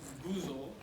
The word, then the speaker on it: Gizaw: It's pronounced Gizaw, and it means travel.